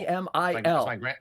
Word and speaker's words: Emil: E-M-I-L. It's my grandpa's name, so it's actually Emil. Oh, cool. I didn't know that's actually how it's pronounced.